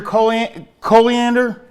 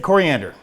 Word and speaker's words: coriander: add some ginger : Coley and ER it's a hate pronounce it and this it coriander I'd say what the I put an L in there and this also has